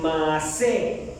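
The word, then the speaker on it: מַעֲשֶׂה: Pues obras viene del hebreo masé, con doble E y acento en la última E, masé.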